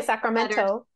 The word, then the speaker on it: Sacramento: We don't say Sacramento. Sacramento. Mm-hmm. Sacramento. Santa Ana. We don't pronounce the T's.